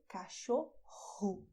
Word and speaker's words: cachorro: With your um throat, "CACHORRO", the same way as in "hot" in English. "CACHORRO".